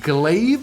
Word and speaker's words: glaive: new Titan weapons so glaive is how you pronounce this glive in Lance energy weapon